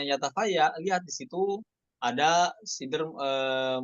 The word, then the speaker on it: يتفيأ: Yatafaya ya, bukan yatafayau ketika wakofnya. Oke? Hamzanya madmumah kan? Yatafaya. Ya, bukan yatafaya ya, jangan tahan ya. Yatafaya seperti itu, bukan yatafayau, bukan jadi mad badal, namun disukunkan.